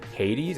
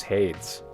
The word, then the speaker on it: Hades: games polaroid is it that's pronounced hades i've always thought it was hates hate wall page that's